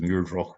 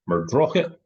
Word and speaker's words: Muirdroch: Wood in Carstfern, and I would say this as Muirdroch Wood were I reading it off of a map, but the local pronunciation is something like Murdrochit, and combined with early